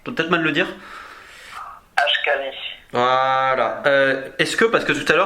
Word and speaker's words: Ashkali: Il n'y a pas une ethnie, alors je vais peut-être mal le prononcer, les Ashkaris, quelque chose dans le genre? Je peux peut-être mal le dire? Ashkali.